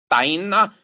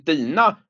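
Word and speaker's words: Dinah: är väl så att katten på engelska Heter Daina eh på svenska har det i omdubbning fått en uttalning en dina Vore det inte enklare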